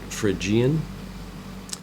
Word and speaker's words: Phrygian: major scale is the Phrygian mode some people pronounce it Phrygian you